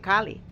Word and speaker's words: Kalis: call as Kali, and it's Kalis, not Kali, but because it has been handed down from generation, from the time of the Spaniards who came, who really did not have the right pronunciation of the letter S, and they lost the letter S, and now we accept it as Kali.